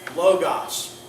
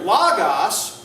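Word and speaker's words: λόγος: it's not omega Omicron so it's either logos which is the short form of the o or modern Greek allows the Omicron to be oo the long form of the O So in in modern Greek they would say logos but no one would say logos you see because the two letter it's either going to be logos or Loos but if you say Loos it's not correct huh and so what's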